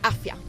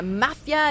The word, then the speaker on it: afya: So I thought, my health, my afya. So that is what I registered at Pakra. And fine, all well, but people had such problems pronouncing it. Are you in the mafia? Is it me afya?